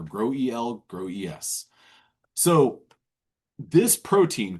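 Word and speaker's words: GroEL: Um I would read this as a graduate student. Oh, growl. Not the case. It's not the case. It's called grow eel or grow eel.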